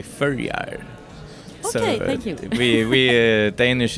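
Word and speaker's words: Føroyar: We're not Danish, it's under Denmark, but you say it in Faroese, say Førjar.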